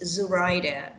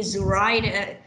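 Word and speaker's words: Zuraida: name is zurider yes zurider i put an emphasis on the first syllable i don't want people go around calling me zurita okay i don't know zur either if i was ryder then i put emphasis on the second syllable or should you call me zoraida you know it's just like zurida then i will have syllable my stress syllable on the third set of my stress on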